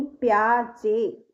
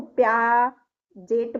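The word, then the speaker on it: Piaget: प्याज कहने को तो हम इसको प्या जेट बोल सकते हैं। लेकिन इसको प्याजे बोला जाता है।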